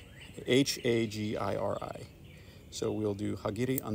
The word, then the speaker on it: hagiri: or kind of the more Americanized pronunciation hagiri h a g i r i so we'll do hagiri